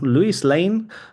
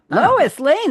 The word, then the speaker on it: Lois Lane: Other roles include Eva Bed on the TNT series The Liberians and voicing Luis Lane. Lois Lane.